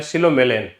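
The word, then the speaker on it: psilomelane: दूसरा है सिलोमेलन। सिलोमेलन में सिलो मेलेन है। इसमें पी साइलेंट है। ध्यान रखना।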